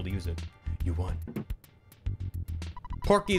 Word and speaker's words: Porky: use it you won porky is pronounced like pokey in japanese because he's a soft